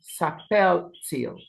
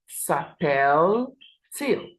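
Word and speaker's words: s'appelle-t-il: these um differences now for e l and all we add the hyen T hyen for pronunciation so it becomes sapel till okay sapel till okay so that is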